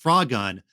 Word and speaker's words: Frogun: or toad and there's it looks like frogun but it's pronounced frog gun you aren't a frog